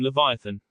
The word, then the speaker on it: Leviathan: There's some dispute among historians how to pronounce that one. He's a water demon who, every few hundred years, terrorizes ships at sea. Although we can never get all the pronunciations perfect because of the language gap, I like to call him Leviathan.